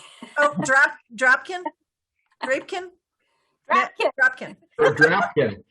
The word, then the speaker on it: Drapkin: Drapkin? Drapkin. Or Drapkin. Rhymes with napkin.